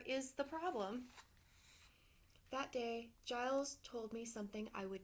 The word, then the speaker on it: Giles: for help it's pronounced Giles rhymes with miles how can I help you there's a monster in my closet and what's the problem the monster is the problem that day Giles told me something I